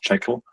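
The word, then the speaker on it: J2CL: It uses something called Java to Closure, or which is pronounced Jekyll.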